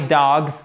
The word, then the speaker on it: dogs: Et ça, c'est une voyelle longue. C'est pas dogs, c'est dogs.